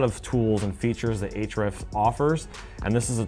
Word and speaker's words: Ahrefs: Number one is Ahrefs.